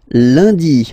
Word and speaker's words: lundi: And in France, the week starts with lundi, Monday. Lundi, lundi. Okay, remember, UN is pronounced like un.